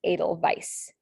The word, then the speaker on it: Edelweiss: in german then um for the v sound in german it's spelled with a w which can get kind